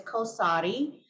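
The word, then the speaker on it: Qalsody: name for topherson which I learned recently is pronounced as kosari and kosari is an intratico Gene targeted therapy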